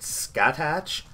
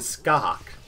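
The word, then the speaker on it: Scáthach: Their names look like Aoife and, what is it, Skatach? Their names are actually pronounced Aoife and Skahak.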